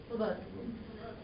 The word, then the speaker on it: Slobodan: I know it's not Slobodan, though. He says the accent on the E. Slobodan.